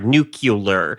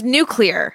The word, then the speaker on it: nuclear: It sounds to me like what you are saying is nucular, nuclear. But it's nuclear.